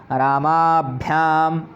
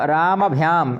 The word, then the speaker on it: रामाभ्याम: तो रामाभ्याम, रामभ्याम यह गलत है, रामभ्याम। यह आ का हमें पूरा उच्चारण नहीं करना, आ क्या है ही नहीं यहाँ पर, तो हमें रामाभ्याम कहना है। और रामभ्याम भी कह रहे हैं तो ये भी गलत है।